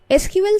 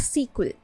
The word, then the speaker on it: SQL: Many people have been pronouncing it as Sql, but the correct pronunciation is SQL because it is not a word, it is an acronym for Structured Query Language.